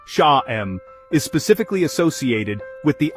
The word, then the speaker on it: Sham: The mantra Sham, pronounced Sha-em, is specifically associated with the Ajna, third eye chakra.